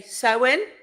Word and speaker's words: Samhain: are as well because people in Scotland will pronounce it with a V sound so a stubborn sound